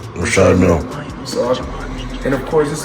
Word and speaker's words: Richard Mille: No, I like to call this people pronounce them different ways. Richard Mille is what, My jeweler told me so. That's exactly how you say it, sir. Rashad Mill.